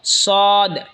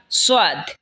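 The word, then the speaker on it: صاد: এরপর হলো সদ। সদ জিহ্বার আগা সামনের নিচের দুই দাঁতের আগার দিকে লাগা উচ্চারণ হবে সদ অথবা সোয়াদ, দুটোটাই বলতে পারেন।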